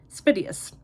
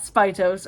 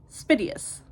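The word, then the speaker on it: Spiteos: where to find them they're on I've been pronouncing this wrong they're on uh spitus so it's not spios or spos it is spitus I have been pronouncing that wrong this whole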